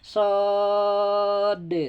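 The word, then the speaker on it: ص: Sod. Sod. Coba. Sod. Pakai kalkolah harinya de ya. Sod.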